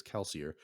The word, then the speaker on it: Kelsier: oh and uh uh kelsier how do you pronounce that name is it just okay it is kelsier uh he killed some dude and like planted